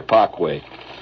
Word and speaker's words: Parkway: Ganon Tire Company 6502 Bay Parkway or as it's pronounced over there pway when in Rome do